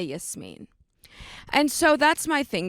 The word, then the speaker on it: Yasmine: me saying that and Yasmeen when my name is yes yes and now when people say my name wrong I'm like actually it's yes mean and I think for